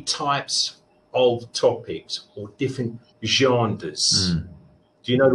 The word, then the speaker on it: genres: It's a French word, okay? We use this, genres. It just looks to me genders. It looks genders, but we genders, but it's also genres. So there are two ways of pronouncing it. Yeah. Different meaning. Genders for women, men, but genres for different topics. Like, what's the difference? It's like genres, like nasal? Can I do? It's like a Z S H.